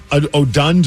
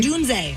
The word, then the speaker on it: Odunze: And I don't even know the guy's how to pronounce his last name, but it's Odunsdog. It's named after rookie Rome Oduns or Odunze? Odunze.